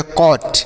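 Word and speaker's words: caught: जैसे सी ए यू जी एस टी इसमें पढ़ेंगे कॉट। क्या पढ़ेंगे? कॉट। सी ओ यू जी एस टी कॉट। तो ए के बाद यू रहे तो औ का उच्चारण होगा।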